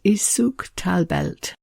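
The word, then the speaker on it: Suq tal-Belt: You might find it marked on the map with its Arabic name, which I think is pronounced Souk Talbelt.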